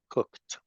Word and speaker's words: cooked: a r cook excellent remember that the e d we pronounce like a t saline cooked cooked cooked exactly you will